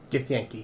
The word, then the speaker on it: Githyanki: Githyanki.